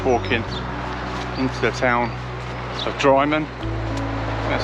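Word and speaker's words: Drymen: So 12 miles in, and I'm just walking into the town of Dryman, that's how you say it.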